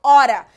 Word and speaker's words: hora: é ficar mudo porque o h sozinho ele não tem som então eu falo ora então aqui eu corto